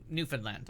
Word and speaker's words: Newfoundland: that was about all the people that were stranded in Newfoundland. And they tell you how to pronounce it. You say understand first, and it should rhyme.